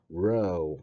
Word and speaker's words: rho: row 하고 발음을 강하게 굵고 강하게 발음을 해주면 좋아.